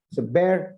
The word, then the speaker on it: bear: a quick tip bear a lot of us mispronounce bear and pronounce it as beer which is an alcoholic beverage okay it's a bear and beard in this